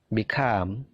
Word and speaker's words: become: Become. Begin. Jadi perhatikan stressingnya. Stressingnya punyanya come, punyanya gain, punyanya leave. Jadi stressingnya itu di suara yang kedua.